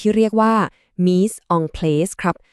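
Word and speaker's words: mise en place: สิ่ง ที่ เรียก ว่า me on place ครับ อ่าน ว่า me song plus เป็น ภาษา ฝรั่งเศส ที่ แปล ตรง ๆ ว่า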